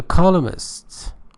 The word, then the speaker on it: columnist: The columnist was ordered to recant her derogatory statements. Columnist, pay attention to the pronunciation of this word. N is not pronounced.